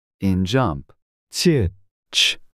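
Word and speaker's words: 치읓: 치읒. Ch. This is pronounced like ch in chair.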